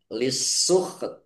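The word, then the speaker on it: للسحت: Ditandai sinnya ada tasdidnya. Sin sinnya dibaca dobel lah ini. Kemudian waqaf ha sukun t-nya juga sukun. Maka dibaca antara ha dan ta. Semua huruf punya hak untuk dibaca. Jadi dibacanya antara ha dan ta. Lisuk. Lisukht. Iya, lisukt. Kemudian ada s-nya sedikit ya.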